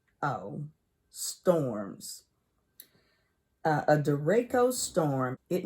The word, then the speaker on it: derecho: Derecho. Derecho. It's pronounced D-E-H, day, and then capital R, capital E, capital Y, like Ray, and then C-H-O, so cho. Derecho.